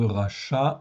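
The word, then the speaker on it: רשע: est dans le verbe donc le verbe racha ok donc qui s'écrit res Shin Ain ici c'est un verbe on verra après l'adjectif il est pareil qui se prononce racha aussi mais c'est un adjectif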